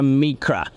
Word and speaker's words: Micra: We ended up going with the Italian pronunciation, sticking true to the heritage there. So it's been a bit of messaging there and calling it the Micra, but you're absolutely right.